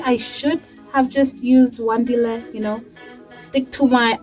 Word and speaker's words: Wandile: names out there because you pronounce it as you read it Wan di le Wandile but I've been called one Dial I've been called one-dil latest is one d